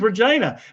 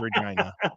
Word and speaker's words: Regina: City's slogan is the only city that rhymes with fun. So, it is Regina. See, I thought it was Regina.